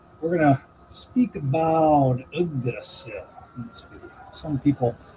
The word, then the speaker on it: Yggdrasil: We're going to speak about Yggdrasil in this video. Some people mispronounce that as Yggdrasil, but it is Yggdrasil, and I'll explain why.